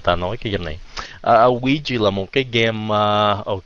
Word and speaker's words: Ouija: Ouija, yes, cái chữ đó nhìn vậy mà không phát âm vậy.